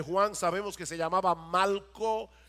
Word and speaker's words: Malco: sabemos que se llamaba Malco, y no estoy pronunciando Marco mal, es que se llamaba Malco con L.